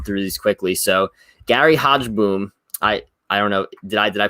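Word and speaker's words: Hogeboom: So Gary Hodgeboom, I don't know. Did I pronounce that right? I think it's Hogaboom, but Hogaboom.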